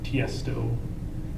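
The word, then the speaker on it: Tiësto: Uh, there's an artist like Tiestto. TS. Tiestto. It's a He's an electronic. Can you spell Can you spell it? T I E S T O. So, the name is Tiestto. It's not initials.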